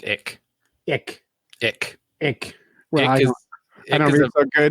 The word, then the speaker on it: ich: So, and I think that's pronounced ick.